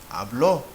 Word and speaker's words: habló: Well, then how would you say habló, meaning I spoke? Habló is aguda, and the last letter is a vowel, but this is an exception.